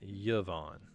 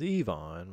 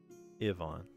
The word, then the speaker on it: Yvonne: it's not now uh that's Yvonne notice the this is the yeah sound right now if if it was Evonne which I don't think is pronounced that way if it was you would just put the Y there like that that would be more like Yvonne all right just throwing